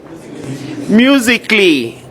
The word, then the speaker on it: musically: Musically, again, A is silent.